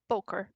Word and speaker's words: Bokor: It's just Bokor. Oh, it's Poker. Boker. Okay. Like Okay. Yeah, poker. I'm sorry.